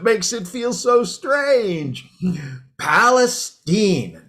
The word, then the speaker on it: Palestine: tonight doing great zeke but actually it's palestine oh well excuse me palestine so we're going with a hoity-toity pronunciation now are we well actually it's a good old texas pronunciation it's been that way for as long as i can remember why see well i stand corrected then don't want to mess with texas it's palestine not palestine well don't let it